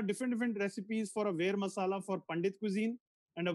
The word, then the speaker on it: ver masala: different recipes for a vera masala for pandit cuisine and a ver masala for it's also called vadi masala but pronounced as were v-e-r some people call it